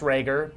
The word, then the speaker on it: Rhaegar: hi my name is Rhaegar spelled razor it's pronounced Rhaegar don't tell me how to spell my name